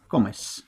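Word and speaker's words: come: কম সাথে কি যুক্ত করবো আমরা ই এস কমেস এবার শেখায় খুব সহজ ক যুক্ত করলাম আমরা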